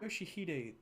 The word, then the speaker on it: Yoshihide: 아니, 그 글자는 그렇게 No, 읽는 게 아니라 that's not how you read those letters. 요시대라고 읽는 거다. Yoshihide, that's how you say it.